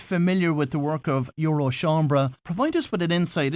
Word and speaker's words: Eurochambres: listeners that aren't familiar with the work of Euro shambra provide us with an insight into the organization so Euro Chambers is the or Euro shambra to use the correct pronunciation as you did is the European umbrella